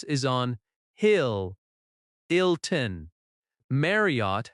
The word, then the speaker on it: Marriott: Marriott has stress on Mar- -riott.